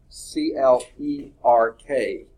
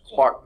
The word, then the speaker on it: Clerk: and that becomes James Clark Maxwell even though they spell it with an E is pronounced as if